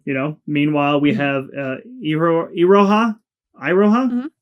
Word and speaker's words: Iroha: Meanwhile, we have Iroha, Iroha? Mhm. Iroha? Okay. Iroha. I know is it looks like it's spelled Iro, but it's yeah.